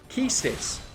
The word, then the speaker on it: Quistis: playing on my channel quistis keistes is the correct pronunciation of coins like um